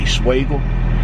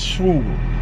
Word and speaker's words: Schugel: Remember before I used to pronounce the name wrong? I used to say Schwagel, but it's Schugel.